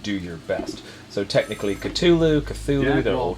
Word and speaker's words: Cthulhu: You just learned Or how to at least pronounce what I Cthulhu.